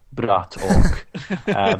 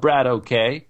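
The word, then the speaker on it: BratOK: And whenever I get the chance to say his name, I want to say it the proper way, Brat Ok. Because American casters, they just get it wrong. He's not Brad OK, he's Brat Ok, which means something akin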